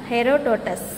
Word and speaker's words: Herodotus: யாருன்னு பார்த்தோட்டின்னா ஹெரோடோட்டஸ். Pronounce தி word ஹெரோடோட்டஸ், HERODOTUS.